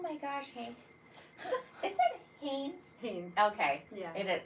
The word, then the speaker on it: Haines: Is it Haines? Haines. Okay. Yeah. It is. I was saying it right the whole time. I always say like the underwear, you know.